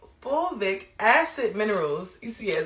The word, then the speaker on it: fulvic: Sheila J is packed with uh fulvic acid is most magical component. And y'all don't be coming for my pronunciations.